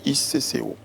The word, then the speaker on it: ICCO: Alors, je le disais tout à l'heure, vous êtes président du Conseil de l'Organisation internationale du cacao, l'ICCO. C'est comme ça qu'on prononce.